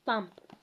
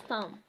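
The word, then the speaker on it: thumb: say bomb it's bomb Thum Thum not Thum it's Thum plumber instead of plumber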